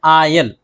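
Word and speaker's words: aisle: बाज़ जगह एस भी खामोश रहता है, लेकिन इसके भी कुछ ख़ास अल्फाज नहीं हैं, मशहूर अल्फाज बहुत कम ही हैं। जैसे कि पहला है आयल, आयल बगली रास्ता।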